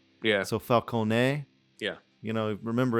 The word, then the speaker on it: Falcone: including Sketch Project says, I'm not Italian, but my friend is, and Falcone's last name is apparently pronounced Falcone.